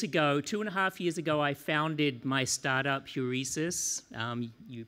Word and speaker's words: Heuresis: 2.5 years ago, I founded my startup, Heuresis. You pronounced it correctly.